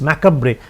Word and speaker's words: macabre: The spelling is macabre, but the pronunciation is macabre.